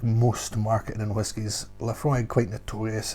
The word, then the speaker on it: Laphroaig: mind seeing so themselves laphroaig pronounced laphroaig is an all malt